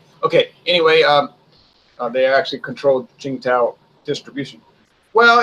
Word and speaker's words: Qingdao: She said, it's not pronounced Tsingtao, it's pronounced Qingdao.